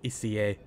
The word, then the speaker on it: ICE: I covered the Ice 4 in a previous review, which you'll find in the top right corner of the screen now.